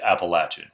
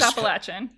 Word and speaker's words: Appalachian: to ask you Paul how do you say that it's for us it's always appalachin um it's always Appalachian yeah now granted if